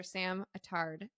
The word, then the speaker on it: Sam Attard: excited Sam oh and her name is Dr samard that is correct right did I pronounce that correctly you did yeah okay great